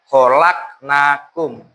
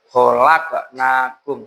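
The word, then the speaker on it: خلقناكم: Kemudian pada khalaqnakum itu kalian tadi membacanya kholaknakum tidak dipantulkan harusnya khqnakum seperti itu ya anak-anak.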